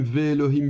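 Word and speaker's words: ואלהים: Et donc de nouveau, bon que vous prononciez Elohim, v Elohim, VHIM, ça n'a pas grande importance. Si pour ceux qui le souhaitent, vous retenez simplement par cœur que ça se prononcera velohim et que c'est avec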